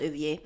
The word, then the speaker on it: Ovier: My dad, he calls him Ovier because I think his name is pronounced Ovier. So he would never say Ovi.